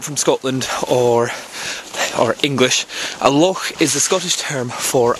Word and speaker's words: loch: Oh, well, for any of you that aren't from Scotland or English, a loch is the Scottish term for a lake. L-O-C-H, and you pronounce it loch.